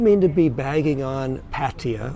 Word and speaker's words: Pattaya: to be bagging on Patia or some of you pronounce it Paya um very nice people